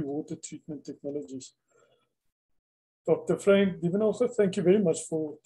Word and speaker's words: Duvenage: No, it's Duvenage. You're correct. It's the Afrikaans, not the French pronunciation.